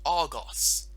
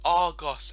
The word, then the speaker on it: Argos: Instead, a different store is called Argos. It's pronounced Argos and these dinosaur reviews, not Argos.